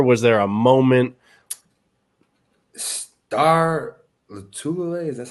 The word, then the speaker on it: Lotulelei: Star Lotulelei, is that how you say his name? Lotulelei, yeah.